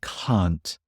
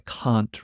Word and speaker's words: can't: can't I can't remember so in the British accent the negative is way is way longer I can't remember also the te does disappear as well like you said I can't I can't remember but you can still tell that it's negative because it's so long I can't remember anyway